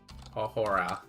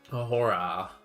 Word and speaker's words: ahora: You barely pronounce the H. It's in ahore. It's almost silent.